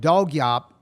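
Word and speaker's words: Dawg Yawp: The group is called Dog Yop, and it's spelled D-A-W-G for dog, and Yop is Y-A-W-P. And Dog Yop, you're going to hear, they're doing roots music,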